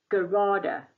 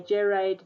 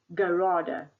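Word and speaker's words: gerade: this Sigma G okay the G stands for Gada I'll pronounce it again Gada um some students say Jade no it's a German word Gada okay so that means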